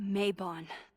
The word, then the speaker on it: Mabon: Try Mabon.